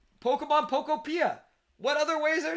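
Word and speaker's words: Pokémon Pokopia: Pokemon Pokopia.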